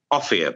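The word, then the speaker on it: Offiah: Offier, by the way, is his proper pronunciation.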